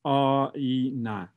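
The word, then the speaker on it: آینه: And the word mirror in Persian comes from, it's pronounced a-i-na.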